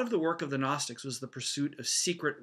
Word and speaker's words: Gnostic: his battle against the Gnostics. The G in the word Gnostic is silent, so it's kind of a strange word.